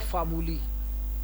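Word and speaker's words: formulae: जैसे फार्मूला, इसको हम, इसकी प्लूरल है फार्मूली, यानी आ को हम ई साउंड से रिप्लेस करेंगे, आ के साथ ई का इजाफा करेंगे और ई की साउंड प्रोनाउंस करेंगे, बनेगा फार्मूली।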